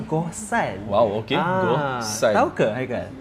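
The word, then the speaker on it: Gohsong: Ha kita berada sekarang dekat Goson. Betul ke sebut Goson? Itulah saya sebut a G O H S O N. Goson. Tapi sebenarnya kan kalau ikutkan pronounce dia adalah Gohan.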